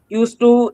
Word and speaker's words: used to: Used to is yielding a sound, which is illusion. And it is pronounced as used to, where D is silent.